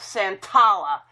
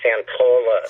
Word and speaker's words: Santolla: She said my name is Santolla earlier, and I had to tell her that Santolla rhymes with Roll Up a Dollar or Valhalla.